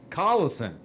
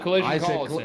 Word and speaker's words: Collison: Collison. Collison. Did I say Collision? Well, he's not Collision. I said Collision last night.